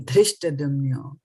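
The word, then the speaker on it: धृष्टद्युम्नो: Dhrish, so dha for dhanush, right? And this is the for davat, or the for Dilli, as we say, right? Dilli, dena, dekhna, dukh. This is all from this D. And this is dhanush, right? Dhyan, dhṛṣṭadyumno, right? Dhṛṣṭadyumno. So keep that in mind.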